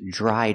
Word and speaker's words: dried out: verb the turkey is dried out let's talk about pronunciation remember Dr together makes a JJ sound like juice and jump JJ dry